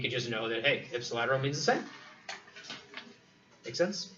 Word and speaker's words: ipsilateral: How do we pronounce that? Huh? Ipsilateral. Ipsilateral.